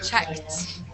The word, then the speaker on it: checked: I think you pronounced the D sound like T. Yes, you are correct. Checked.